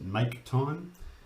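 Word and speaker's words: mktime: so we talked about mk time or i pronounce it make time and what make time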